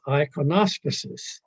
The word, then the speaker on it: iconostasis: Now, the sanctuary screen, the word for it in English, anyway, it sounds funny, but the word, the way it's pronounced in English is iconospuses.